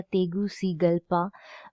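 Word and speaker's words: Tegucigalpa: बाय the protocol of तेगुशिगल्पा। ये इसका pronunciation होगा तेगुशिगल्पा, विच superseded the charter of the organisation of central American state.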